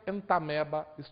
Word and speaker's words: Entamoeba: dessa ameba entamoeba holística fiz questão de falar para vocês entamoeba só que se pronuncia entameba holística ela vai fazer